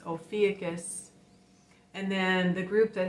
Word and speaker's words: Ophiuchus: The teacher didn't know how to pronounce Ophiuchus, so I said it's Ophiuchus.